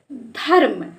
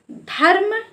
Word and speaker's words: धर्म: उच्चारण धा के बाद धा के बाद आधा रा का उच्चारण करेंगे तो यहां पर इसको हम पढ़ेंगे धर्म धर्म और जैसे यहां पर